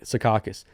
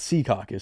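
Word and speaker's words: Secaucus: they're all correct me they're like sakas I'm like no she told me it's seus so I'm saying how she says it but only the people from seacus say seus yeah it's it's like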